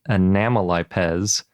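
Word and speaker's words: Anomalipes: And Anamelipes comes from Anomalous, which is why I'm pronouncing it that way.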